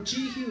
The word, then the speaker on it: Jehu: And we're going to talk about this man, Jehu, and what, or Jehu, that's how they pronounce it.